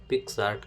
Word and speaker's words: PicsArt: Download कर सकते हैं जिसका स्पेलिंग लिखा है पी आई सी एस ए आर टी pिक्स आर्ट करके ऐसा बोला जाता है तो इसको आप ओपन कर लें आप थंबनेल देख लें है ना?